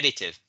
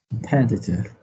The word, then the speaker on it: competitive: competitive because you know the stress is on the second syllable not on the last one if you say